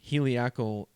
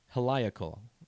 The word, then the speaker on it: heliacal: 23rd freemasonry honors the heliacal or helical rising of sirius i knew i was going to mispronounce that word the first time it came out of my mouth heliacal i think is right and there's a lot